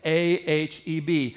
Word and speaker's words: aheb: It's the word that is used there called aheb, A-H-E-B. If you want to say it like a Jew, you would say aheb.